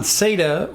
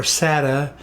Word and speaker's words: SATA: test your system now I'm on SATA or SATA or sat depending on what part of the world you're from how they pronounce it but it's an